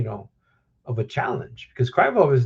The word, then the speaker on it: Krylov: And look that fight against um um Krylov Let me pronounce this last thing correctly. Um Krylov.